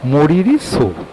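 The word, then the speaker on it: Tso Moriri: TSO, ওরা টি এর উচ্চারণটা করে না, তো ওরা বলে মরিরি সো বা সো মরিরি।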